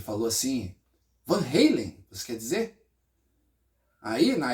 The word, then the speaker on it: Van Halen: Mas na Holanda, né? é conhecido como Fun Hallen, né? Porque é assim que se pronuncia o o nome da família, né?